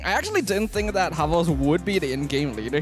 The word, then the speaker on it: Xbox: We have Aziz, Xbox, Panda, Yuna, as well as Young Lord, where I think it's pronounced as Habos here for Xbox, even though it's spelled like that.